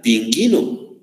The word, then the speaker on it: pingüino: en la almendra y lo utilizó para que para pronunciar la letra muy bien para pronunciar la letra y si la tienes y sería pingüino muy bien y está